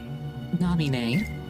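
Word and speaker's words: Naminé: I'm pretty sure the correct way to pronounce that is Namine. You see that Donald's a bit of a wild card because he might heal her. Namine? Namine, that's how I've been pronouncing it, Namine. The accent on the end is the same kind that shows up in French a lot.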